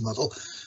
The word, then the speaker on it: Muddle: Um then he wrote um the a programming language called muddle not mdl which was actually pronounced muddle.